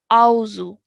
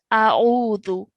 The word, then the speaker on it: أعوذ: So some students, they say Auzu. Okay, that's wrong. So the correct way to say it is A'udhu. Can you say that for me? أعوذ Okay. A'udhu billahi minash shaitanir rajim.